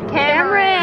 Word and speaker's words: Cameron: It rhymes with Amarin. Cameron.